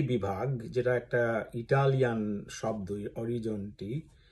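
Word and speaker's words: Orizzonti: আর এই অরিজন্তি বিভাগ যেটা একটা ইটালিয়ান শব্দ অরিজনটি সে অরিজনটি মানে স্পেলিং হচ্ছে ও আর আই জিজি ও এনটি আই অরিজনটি ঠিকঠাক উচ্চারণ করতে পারলাম কিনা আমি জানিনা।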